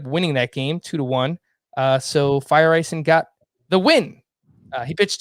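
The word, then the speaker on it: Feyereisen: I noticed that too, because when I phonetically spelled out his name, I listened to how they said it on the broadcast, and it literally sounded like Fire Ice End.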